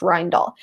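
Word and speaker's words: Rijndael: received 50 submissions and eventually accepted one that's pronounced rind all the joke is a triangle this word is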